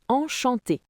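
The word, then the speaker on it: enchantée: Si vous êtes une femme comme moi, vous dites enchanté. La prononciation est la même, mais on ajoute un e à l'écrit.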